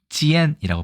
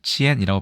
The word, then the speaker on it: 尖: 참 중국에선 어떻게 발음할까요 중국에서는 지엔이라고 발음합니다 타이완에서도 지엔이라고 발음을 하는데 다만 특히 중국 이쪽